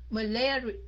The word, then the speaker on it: malaria: Malaria. Malaria. Malaria. Right? Malaria. Nhấn dần thứ hai. Malaria.